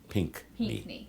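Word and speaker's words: Pinckney: you pronounce his last name just py PNE pink okay I've heard it pronounced like a million different ways um you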